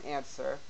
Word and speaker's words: answer: For example, there's no W in answer.